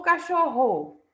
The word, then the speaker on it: cachorro: Cachorro, cachorro ou cachorro? Nós dizemos cachorro. Então, a sílaba tônica é a penúltima.